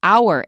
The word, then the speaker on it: hour: mouth open there are only a very few words from in which the H is not pronounced some are very common like hour in an hour now let's say a